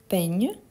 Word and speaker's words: peignes: Du coup, on a je peigne, tu peignes. N'oublie surtout pas le S à la fin, même si on ne le prononce pas.